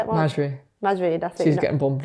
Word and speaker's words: Majri: Majri, that's it.